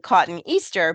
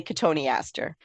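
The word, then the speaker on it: Cotoneaster: that's Mis mispronounced because people sound it out and it's spelled like cotton Easter but it's really Katon Aster yes exactly I sound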